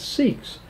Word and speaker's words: Sikh: which is known as sikhs s-i-k-h and they pronounce it sick derived from the sanskrit